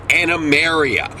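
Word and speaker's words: Animarium: of all it's pronounced anameria mare as in a majestic horse not more as into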